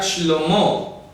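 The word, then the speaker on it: שלמה: Ejemplo, el nombre de Salomón se escribe sin ninguna Vav y se pronuncia Shlomo.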